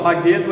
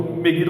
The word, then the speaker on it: Megido: Magedo é Megido. Então Megido você pode pronunciar das duas formas em hebraico, ou Megido ou Magedo.